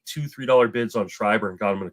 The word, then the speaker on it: Schreiber: would, but I put a couple bids just on and I always pronounce his name wrong. John Oh, Scribbery Schreibner. I Schreiber. forget. Thank you. Schreiber.